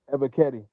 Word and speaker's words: Ebiketie: Ebiketie.